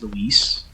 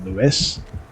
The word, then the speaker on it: Luis: of ar4 is that his name is Luis but Leon is an American in 2004 and just calls him leis and the last thing that Lise ever heard was Leon mispronouncing his name what is happening what